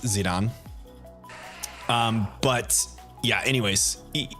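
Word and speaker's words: Zidane: to pronounce his name zidon like the like the soccer player cuz the whole like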